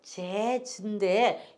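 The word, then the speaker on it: jazz: 그래서 재즈인데 요걸 그대로 읽으려면 재즈 이렇게 재 발음할 때 조심해서 해야 돼요.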